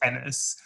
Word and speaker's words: Ennis: Sorry, I don't know how to pronounce his name. So it's Ennis. So in the film it's Ennis.